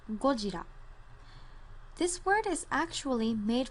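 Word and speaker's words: ゴジラ: worldwide which is godzilla godzilla in japanese is pronounced gojira this word is actually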